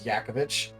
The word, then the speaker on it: Djokovic: name is that like if you pronounce it properly it's yakovich yak all right anyways by